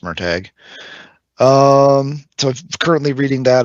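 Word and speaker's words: Murtagh: um so it's called merag spelled MOG but pronounced merag um So currently reading that I'm about 150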